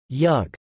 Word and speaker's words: jug: The name Yugoslavia, an anglicized transcription of Jugoslavia, is a composite word made up of jug, yug, with the J pronounced like an English Y and Slavia.